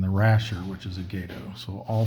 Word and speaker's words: Gato: Apparently I've been mispronouncing this from what I've read, even though gato is how you pronounce the Spanish word for cat. When used to refer to a submarine, it's apparently gato.